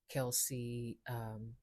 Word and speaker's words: Kelce: Now, jump in the chat, give me your opinion about what Kelsey had to say regarding the switch. But I would have a question for Kels. Actually, it's Kels. Let me not mispronounce his name.